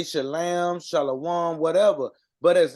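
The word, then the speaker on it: שלום: clear to people um shalam or shalom is a uh it's a um a Yiddish German dialect so they're not even saying it correctly it's shalam that that's shalam and Shalom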